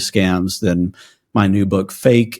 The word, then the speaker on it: FAIK: then my new book fake it's spelled faik k um is out there